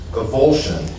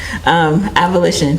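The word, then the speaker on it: avolition: Is avulsion, is that a negative symptom of schizophrenia? Say that again? Avulsion? Maybe I'm pronouncing it wrong. A-V-O-L-I-T-I-O-N? Oh, got it. Abolition.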